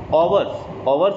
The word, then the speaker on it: hours: Hours is also a word in which H is silent.